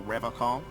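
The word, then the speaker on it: Revachol: But someone has to stay strong for Revacol. Ревакон. He pronounces Revacol with a hard K, unlike other people.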